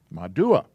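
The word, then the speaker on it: מדוע: this is do uh so that's pronounced ma do or personally i prefer using a u instead of the double o's ma do uh why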